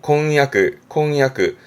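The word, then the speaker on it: 婚約: 발음은 콩야크. 한국어의 경우는 약혼이란 말을 하지만 일본어는 혼약으로 콩야크 합니다.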